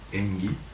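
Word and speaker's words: 縁起: est passé directement en japonais où il se prononce engi par cosuscitation ça veut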